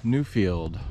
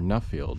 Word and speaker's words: Nuffield: try giving the old Newfield or nfield my dad always pronounced it Newfield but I think it's probably pronounced nfield the old uh nfield